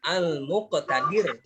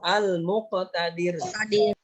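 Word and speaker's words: المقتدر: Kemudian yang kedua, apa ini bacanya nih? Al-Muqtadir ya. Ikutin Pak Guru. Al-Muqtadir.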